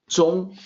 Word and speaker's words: zhong: So the pinyin is ZHONG, that's zong. So the ONG, like KONG, is not, KONG is not Kong, like King Kong, but Kong. In this case, zong.